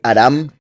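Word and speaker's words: ארם: de Siria que repito en hebreo anda muy lejos la pronunciación es aram Entonces sería el aramí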